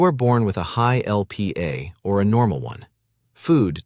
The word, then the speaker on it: Lp(a): something called lipoprotein A, usually written as LPA and pronounced LP(a).